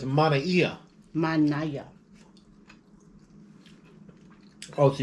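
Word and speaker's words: manaia: Oh, it sounds like you were saying like a ng. Sound like a G. Ng. I do use G. But it's manaiya. Manaya. Oh, so it's not manaiya.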